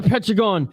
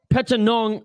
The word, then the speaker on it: Petchtanong: round oh and a beautiful counter knee by Pentagon akimoto came in with the right hand and pentagon Peta Nong I should say my apologies for mispronouncing that